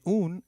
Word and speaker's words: un: And soy una estudiante means I am a female student. The U in un is pronounced as double O in Ubuntu and not like the U in umbrella.